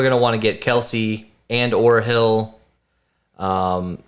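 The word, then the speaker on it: Kelce: in paddy hill and kelsey if you want it i think i'll have yeah kels that's really his name his brother and him both have it have it pronounced wrong um i really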